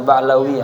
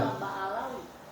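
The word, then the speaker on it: Ba'alawi: Ali bin Ali ba'lawi ya bacanya benar Muhammad bin Ali ba'lawi ini keturungan ba'lawi baawi hah baawi bacanya ba'lawi Bole baawi boleh Bawi ada yang baca baawi ba baalawi baawi apa baawi orang menyebutnya juga baawi boleh sama aja ya heh karena biasanya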